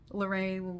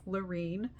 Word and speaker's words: Larene: A lot of people don't say my name right, can't say it right, or just Lorraine, Lauren, you know, there's lots of different ways, but it's Lorine.